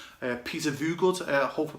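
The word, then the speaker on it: Voogd: And again, I think that the guy is an American entrepreneur called Peter Voogood. I hope I pronounced your name right there, Peter. It's V then good, Peter Voogood.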